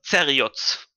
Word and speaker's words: Zerioz: Ich handhabe das wie bei Quapp, altmodisch deutsche Aussprache, da steht ein Z, also heißt das Zeriots.